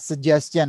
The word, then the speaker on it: suggestion: dibaca yes suggestion ya suggestion Nah kamu ampil rupa lagi tuh karena itu tulisannya G du biji jadi bacanya suggestion suggestions Ayo suggestion ya Apa